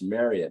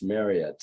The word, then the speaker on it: Marriott: It's Marriott, not Marriott. Oh, okay. It's Marriott, like chariot.